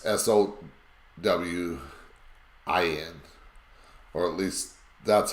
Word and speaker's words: Samhain: Again, we've already learned about Samhain, and now there's different people pronounce it different. Some say it SOWIN, and then there's SOWWIN. It's SOWIN, or at least that's how most people pronounce it.